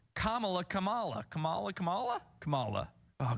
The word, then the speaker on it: Kamala: name right Camala Harris it's Kamala not Kamala oh okay it's Kamala Kamala Harris not Kamala you put the emphasis